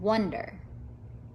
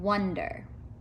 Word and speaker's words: wonder: words son months and wonder do they all have in common son months and wonder what do you think they all have a short u sound don't they son hmm under